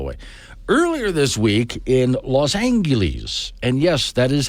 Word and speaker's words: Los Angeles: out of the way earlier this week in Los Angeles and yes that is how you pronounce it my childhood hero Bugs Bunny always called it Los Angeles do not tell me that bugs was wrong